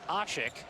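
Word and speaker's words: Aşık: and fifth points but the pronunciation that we've gone with here and speaking with some of the turkus officials is ashik I'm going to go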